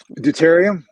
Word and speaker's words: deuterium: way you can you know how do you pronounce that word again deuterium deuterium deuterium yeah how do you spell that